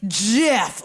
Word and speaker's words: GIF: behind here we go pronunciation comes from what jif gifts thank you graphics interchange format in his acceptance speech he declared his his own invention once and for all the correct way to pronounce it is jeff like jiffy luke why didn't he put himself